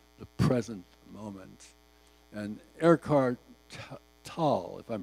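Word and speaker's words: Tolle: present moment and Eckhart tall if I'm pronouncing correctly is a noted pardon me Eckhart I can't the last name is Tough it's t-o-l-l-e and the pronunciation on the internet says t-a-a-l so you do it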